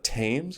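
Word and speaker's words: Thames: one does in London called the tames is how they pronounce it and up until this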